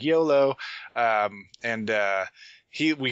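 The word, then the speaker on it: Iolo: because you like come in and they're like YOLO as I call him it's like lol whatever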